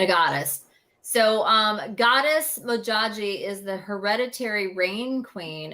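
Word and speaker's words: Modjadji: African goddess Rising Oracle deck is mojaji yes mojaji is how her name is pronounced and it's about manifestation and get her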